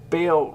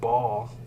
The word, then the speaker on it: Baal: Anyway, um, Bale reminds me of ball. I used to pronounce it ball, mispronounce it ball.